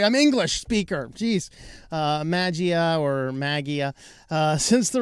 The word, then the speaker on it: Mageia: to reality and again about the pronunciation if it's maggia or magia or Manji I don't know it's not Mangia okay I said that a few times it's not that there's no n in here silent end sorry I'm English